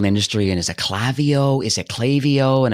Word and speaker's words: Klaviyo: that it actually is pronounced Klaviyo. Yes, trust me, it is an ongoing topic of conversation around the office here too. I think we've got a video somewhere that just goes through the many variations that people typically use. But it is Klaviyo. It is with a K.